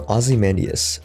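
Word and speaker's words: Ozymandias: to my book reading the pronunciation was correct so ozzy mandius okay the b movie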